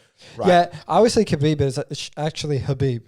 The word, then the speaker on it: Khabib: obviously khabib is actually habib you don't pronounce the k oh okay hamza yeah